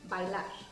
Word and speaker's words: bailar: And remember, I haven't said it yet, but to dance is bailar. Bailar. Bailar. Bailar. Yes, you really have to make the differentiation between the two syllables there.